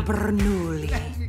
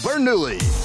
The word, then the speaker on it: Bernoulli: you know his name i don't say it like that it's three syllables not ten rsn presents under the hood featuring francesco bernoulli the piston cup circuit